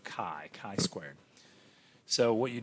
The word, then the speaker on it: chi: looks kind of like an x it's pronounced chi if we spelled it out it'd be c-h-i where the c-h is making the sound chi chi squared so what you do here's the